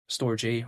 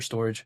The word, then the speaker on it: STORJ: I mean, it's spelled like STORJ. Some people call it storage. I was even about to say storage as well, but then it's spelled StoreJ. But then you know what, in terms of the pronunciation, tomato, whatever, StoreJ or storage, whatever the case may be.